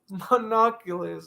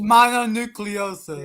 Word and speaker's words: mononucleosis: And you out here getting monoculus. Like, come on, dude. It's mononucleosis. Yeah, mononucleosis. I never pronounced it wrong.